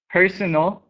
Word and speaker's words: personal: the rest of these personal and personnel here the emphasis is on the first syllable and here it's on the last no eligible illegible um